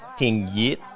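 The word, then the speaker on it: tiếng Việt: So words like tingvit, which means Vietnamese language is pronounced ting.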